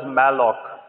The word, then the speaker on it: malloc: This is pronounced as malloc, memory allocation.